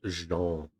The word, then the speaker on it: Jean: It's pronounced Jean.